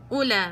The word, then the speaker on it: أولئك: نفس الشيء في الألف لا تلفظ. أولئك، أولى أولى، ما بقولش أولئك.